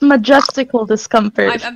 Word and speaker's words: Majestical Discomfort: get something straight right my channel name is pronounced majestical discomfort Majesco majestical this comes no